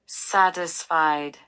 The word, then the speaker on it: satisfied: 그리고 여기에 트 발음이 있는데요. 미국식 영어에서는 양쪽에 모음이 있고 그 사이에 트 소리가 중간에 있는 경우에는 트 소리가 약화되어서 르처럼 소리가 날 수 있습니다. 그래서 satisfied라고 발음해도 되지만 satisfied로 들릴 수도 있으니 기억해 주시면 좋겠습니다.